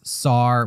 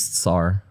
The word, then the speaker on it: Tsar: Now, do you pronounce Tsar with a C or with a T?